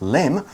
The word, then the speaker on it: limb: mention about limb is it's got the letter B but you don't really pronounce the letter B he kind of pronounce